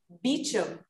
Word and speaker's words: Beauchamp: it was interesting because the beauchamp he pronounced beechum ah bishop and he